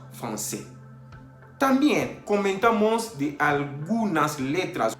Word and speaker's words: français: Por ejemplo, français, para no decir francais, decimos français.